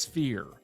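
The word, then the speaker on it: SFEER: It's pronounced Sphere.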